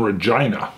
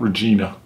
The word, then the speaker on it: Regina: Now, I've got a buddy that lives in Regina, and that is how they pronounce it. It's not Regina.